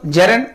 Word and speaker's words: gerund: जेरेंड, या पहले तो पार्टिसिपल, जेरेंड, इन्फिनिटिव। जी हां, इसका अगर एक्चुअल प्रोनाउंसिएशन किया जाए तो जेरेंड बोलेंगे, जेरेंड।